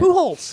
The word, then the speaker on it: Pujols: That's how you pronounce it? Pujols, yeah.